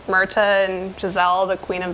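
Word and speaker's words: Myrtha: Myrta and Giselle, the Queen of the Willies.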